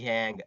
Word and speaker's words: YANG: सो यांग full form, यांग full form yet another next generation, हैंग है ना, यांग ऐसे ऐसे बोलते हैं, इसकी प्रोनाउंसिएशन थोड़ी अजीब है।